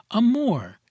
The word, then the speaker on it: amore: Amore. You fairly sing the second syllable in a baritone voice from the chest with a little throaty tremolo on the surface to make it sound more palpitating.